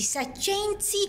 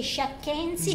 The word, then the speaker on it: saccensi: Ora di pranzo, e quindi adesso andiamo ad assaggiare dei piatti tipici saccensi, perché il signor Costanzo mi dice che non si dice sciacchensi, no. Ma si dice com'era? Saccensi.